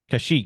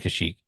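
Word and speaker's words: Kashyyyk: messed it up anyway kashik but kashik I think it's actually kashik I don't know there's too many wi's in a row first off Ben tell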